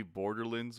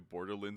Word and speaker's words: Borderlands: that how it's pronounced is it really borderlands and i've just been saying it wrong i yeah i i just don't think anyone really stresses it as much as you do like you're clearly saying lands yeah like but it makes sense because if you said if you when i think about it it's a wonderland tomorrowland like you always say it that way but i don't know it just always came out borderlands i'm waiting for